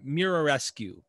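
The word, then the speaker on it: Muraresku: the show is brian mararescu i think i'm pronouncing that right it's mirror rescue technically mararescu and he wrote a book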